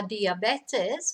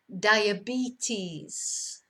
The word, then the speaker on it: diabetes: We might have la diabetes, which in English is the same word, but pronounced differently. Diabetes.